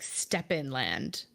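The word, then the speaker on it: Stepenland: don't remember what's it it looks like it should be pronounced like step in land yeah that is how it's pronounced okay okay which could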